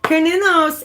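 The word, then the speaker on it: Cernunnos: I even looked up how to pronounce it properly so I'm not messing it up. Kernunos is the Celtic god with like the antlers, right?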